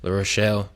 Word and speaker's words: La Rochelle: Yeah, I mean, if you're ever in France, definitely give the West Coast Bordeaux, La Rochelle. I didn't pronounce that right, but you know, No, you did a give great job.